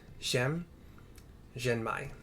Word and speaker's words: Szem Zhenmai: given to us by Szem Zhenmai. It's the best pronunciation. It could be Zhem, S as in Sam, Z-E-M, Zhem Zhenmai.